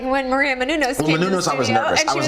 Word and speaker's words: Menounos: you can then you say it like when Maria Menounos I was nervous I was nervous it's Maria Menounos but do I know you from somewhere even